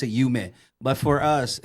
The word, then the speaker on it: Yume: Well, Yume is a Japanese word for dream. Oh, okay. Yume. They pronounce it Yume.